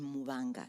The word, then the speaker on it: Mubanga: The B specifically in Mubanga, that there is no hard B in Bemba.